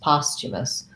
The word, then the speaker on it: posthumous: another good word so posthumous looks like it should be more like humus or um it's kind of like the word hummus actually in the actual pronunciation um but when we add the past it's it's not a post like the word post and it's not humus um so it changes to posthumous posthumous um so this